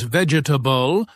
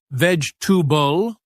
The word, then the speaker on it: vegetable: Oh, and pronunciation mistakes like saying vegetable as vegetable with all syllables when it's actually pronounced more like vegetable.